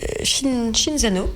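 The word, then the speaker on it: Cinzano: toutes prêtes à boire c'est shinzano si on le prononce avec l'accent italien qui nous a fait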